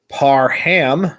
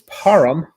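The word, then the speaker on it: Parham: literally the entire game it's not par ham it's param haram uh param right yes but uh it's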